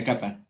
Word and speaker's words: cup of: of is equal to a cup of tea. A capa.